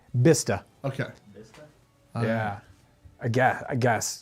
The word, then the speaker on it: Bicester: A lot of people in the chat seem to think it's Bicester. No way. I don't think so. No way, Somebody guys. else says Bister. Let's take. Oh, here I go. Yeah, Bista.